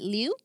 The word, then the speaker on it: Liu: Do you pronounce it Liu?